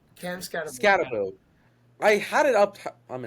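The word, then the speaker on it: Skattebo: Skibaboo. Cave Scataboo. Scataboo. Why' I say Skip? There you go, Joe. It only took three tries. No, I had it up how to pronounce his name. Cam Scataboo. Scataboo.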